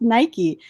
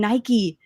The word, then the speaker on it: Nike: Mike it's spelled Mike like why is it pronounced Nike anyway so it's true I still mess up all the time and I'm like Mike I mean Nike you know I always touch myself now we're